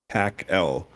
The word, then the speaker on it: PAC-L: facility called the Palo Alto CARET Laboratory, or PAC-L, lovingly pronounced PACL during my time there.